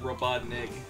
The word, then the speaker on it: Robotnik: You pronounce it with a K at the end, Anthony, not a G.